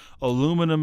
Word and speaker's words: aluminium: It's aluminum and steel. I mean, there's Aluminium.